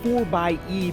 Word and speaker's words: 4xe: mention the grand cherokee 4 by e plug-in hybrid yes that's the proper pronunciation of the 4xe spelling annoyingly jeep hasn't revealed